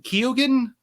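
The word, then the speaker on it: Keoghan: last name Barry Keegan kogan oh Barry kogan kogan is that's how you pronounce this kogan I think you don't pronounce the E if I remember correctly okay because I know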